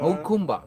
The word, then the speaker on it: Jacumba: Hakumba. That's how you say it.